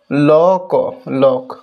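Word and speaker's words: lock: ওকে যেমন লক বানানটাই দেখো। ওকে লক এল ও সি কে দেখো উচ্চারণটা দেখো লক লক।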